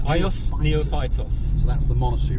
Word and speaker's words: Neophytos: Neophytus. Ios Neophytos.